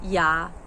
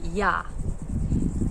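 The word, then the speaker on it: ja: In Croatian, that's ya ya ya. It's yah. J is a y and it's not j.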